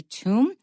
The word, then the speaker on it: tomb: Egypt Egyptian and finally tomb there's a B at the end but you don't pronounce it now there's a similar